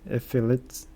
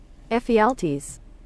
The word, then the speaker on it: Ephialtes: The Persians learned about this path from Ephialtes. How the fuck can you pronounce this? Pronunciation? Ephialtes.